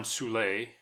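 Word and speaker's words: Soule: Batman was Olin zulay who oddly I've heard it pronounced fool but he was he was in probably you know just about every TV show the 60s and 70s he made he was in tons of westerns okay all over the place and he was also in some old-time radio shows where it was definitely pronounced suea and yeah the radio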